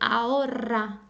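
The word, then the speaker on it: ahorra: is massive because if I say aora very softly it means now if I say Aura I'm telling you to save money okay it comes from the verb Aura to save so it does change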